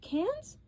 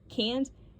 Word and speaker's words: Cannes: Cannes? I never think I'm saying it right. Sometimes I think I've heard people pronounce it other ways. Cannes.